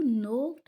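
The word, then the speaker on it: knocked: डू you know who नोक्ड एट the door. क्या तुम जानते हो दरवाजे पे दस्तक किसने दी है। अब नो में भी देखिए के साइलेंट है, सॉरी ये लाइन एन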